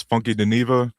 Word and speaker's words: Funky Deneva: I believe his name is Funky Deneva. Yeah, that's how you say his name properly.